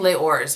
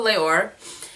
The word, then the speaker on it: Les Ors: under the Guerlain Les, I've been saying Les Ors, but somebody was telling me that the S is silent, which I don't remember from my French class. So Les Ors.